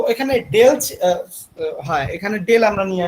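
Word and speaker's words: ∂: তো এখানে ডেল, হ্যাঁ এখানে ডেল আমরা নিয়ে আসতেছি, এখানে কিন্তু আমরা d উচ্চারণ করব না।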